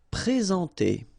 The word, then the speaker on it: présenter: Okay, remember when we get this accent aigu like that on the top of sorry, then you should pronounce it e. All right, and then you combine the two en nasal en. Présenter.